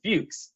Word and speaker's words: Fux: talked about this Austrian composer named Johann Joseph Fuchs, and his last name is spelled just F-U-X with no accents or anything.